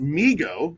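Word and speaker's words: Mego: to the overwhelming demand it's maego pronounced migo and oh i'm sorry i was saying it wrong was started by his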